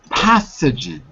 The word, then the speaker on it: pathogens: below it pathogens good pathogens pathogens yeah path with your tongue sticking out between your teeth pathogens okay and Jose